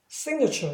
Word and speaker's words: signature: 그럴 때 다시 E로 발음해요. 그래서 signature 이렇게 발음이 바뀌어요.